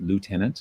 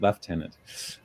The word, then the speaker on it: Lieutenant: I'm pronouncing it the British way, Lieutenant. I know all the Americans watching are going to want to pronounce it Lieutenant, and you can in